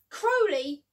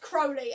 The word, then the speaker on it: Crowley: Also, I'm now going to jump slightly to pronunciation here, because Crowley is pronounced Crowley, and I've been pronouncing it as Crowley for about 2 years now, because I'm a massive